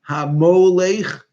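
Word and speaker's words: הַמֹּלֵךְ: who ruled from hodudu kush secondly the word hamolekh who ruled or who reigned it should have the letter vav in there because it's pronounced mo hamo leich with the sound of a hollam and that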